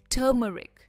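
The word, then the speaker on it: turmeric: आर इसमें pronounce नहीं होता है। इट इज़ ट मरिक। टर्मरिक और ट पर इसका स्ट्रेस है।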